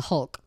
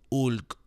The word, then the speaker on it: Hulk: Me estoy convirtiendo en el Hulk. Yeah. Right, because we don't pronounce the H, right? Right. Hulk.